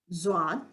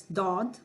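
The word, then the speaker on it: ض: Zwad. Yes. Dod. That's fine. Zwad. It can be Dod or Zod. Z with Z or with D. Anyone. Pronounce midway between Z and D.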